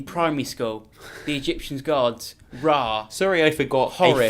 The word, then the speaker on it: Ra: You've got the sun god Re, or is it Ra? I think it's Re. It's Ra. Obviously.